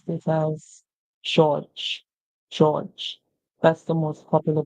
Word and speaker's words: George: George. George. George. The E at the end is silent. And this is the most popular pronunciation for this name, George.